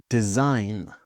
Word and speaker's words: design: Sign design.